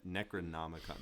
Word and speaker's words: Necronomicon: The Necronomicon. That dude, that's such a hard thing to pronounce.